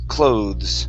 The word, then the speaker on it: clothes: last word here uh the E is silent so we don't say cloes okay the word here is pronounced clothes clothes cloth yeah very